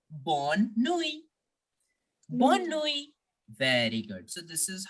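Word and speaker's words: bonne nuit: French language simply as born knowing there is no sound of T in the end okay it is simply born Nui very good so this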